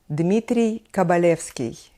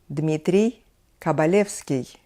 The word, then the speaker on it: Dmitry Kabalevsky: now back to the list next will be Dmitry kabalevsky Dmitry kabalevsky a lot of young students of violin would